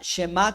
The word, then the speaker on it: shemá: la garganta Okay ahora la primera palabra shemá como sh sí puede pronunciar así como o puede ser un respiro hacia hacia dentro la los el idioma